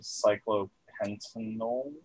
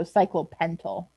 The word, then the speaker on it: cyclopentyl: it with yl so cyclopentanol almost i think you had an extra syllable in there so cyclopentyl all right yeah so